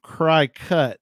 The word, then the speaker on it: Cricut: dave although we know what you mean it's cry cut right c-r-i-c-u-t i have no idea i think it's cry cut you would probably c-r-i-c-u-t uh we call it cricket yeah i think it's pronounced cricket but it's